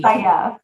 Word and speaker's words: Abu Sayyaf: So you kind of explained there already who I can't even say it correctly, Abba The Abu Sayyaf. Sayyaf, yeah.